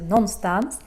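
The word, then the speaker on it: någonstans: this little word non-stones it's written no gun stance but we pronounce it non-stance and it really means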